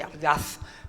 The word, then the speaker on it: audaz: Y pronunciaba la Z, así, audaz, porque era algo lejano, prohibido, imposible.